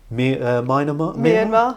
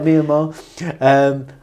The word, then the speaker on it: Myanmar: You've been to a place like Dubai, or Dubai, whichever way you want to pronounce it, or I might say it properly, Myanmar. Yeah. I got it right, Myanmar.